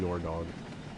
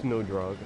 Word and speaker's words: Nodrog: useful, we'll call him Nordog. Nordrog. Or is it Nodrog? Not sure. No, it's Nodrog. I'm reading it right now. Gordon backwards is Nodrog. I pronounce it Nodrog.